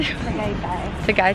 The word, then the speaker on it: Tagaytay: Tagaytay.